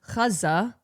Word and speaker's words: Gaza: Like if you if you pronounce if if you say Gaza versus, you know, the more Arabic pronunciation of Kaza, nobody's I don't think anyone's going to be like, "Hey, you're pronouncing it incorrectly.